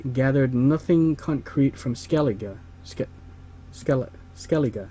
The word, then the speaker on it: Skellige: Skellige, that's how you pronounce it, that's right.